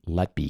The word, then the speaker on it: Letby: Uh the Lucy Lety case. Did I pronounce her last name right?